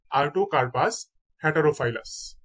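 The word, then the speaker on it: Artocarpus heterophyllus: কাঁঠাল, কাঁঠালের বৈজ্ঞানিক নাম হচ্ছে আর্টোকার্পাস, আর্টোকার্পাস হ্যাটারোফাইলাস, আর্টোকার্পাস হ্যাটারোফাইলাস।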